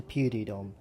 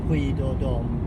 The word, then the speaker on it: Puy de Dôme: a place that's called, I think it's pronounced Puy de Dôme, but probably not.